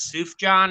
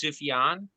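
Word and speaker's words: Sufjan: It's not Suf John. It's Sufan. It's Sufjion.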